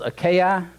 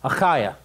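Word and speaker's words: Achaia: was called we'll see we pronounce this a ki and I listened this morning I went to my little app and find out actually how to pronounce a ki and it's a kyuh kyuh it's not a ki zakiya okay so but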